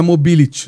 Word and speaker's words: Mobility: Hoje você é o proprietário da Mobility, né? Sim. A pronúncia está certa? Certa.